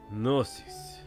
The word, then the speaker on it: Gnosis: That name again. Gnosis. Why are they all pronouncing the G?